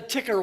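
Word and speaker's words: Tikker: how many of you are aware of the ticker watch it's spelled t-i-k-k-e-r which is available for you online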